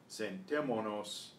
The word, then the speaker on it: sentémonos: And when we do that, we have to add the accent to keep the syllable where it was in the first place. Sentemos is the verb by itself. Sentémonos allá is what happens